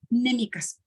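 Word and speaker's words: mnémica: Huella anémica. Se escribe MN, huella anémica. ¿Okay? Bueno, la base de todo esto, pues prácticamente son estas que se les llaman huellas némicas.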